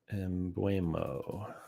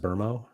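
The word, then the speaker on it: Mbeumo: Embuo, but it's pronounced Burmo.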